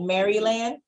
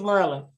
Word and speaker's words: Maryland: say it here yeah I used to call it Maryland and everybody was like Merlin it's Merlin okay anywho okay so no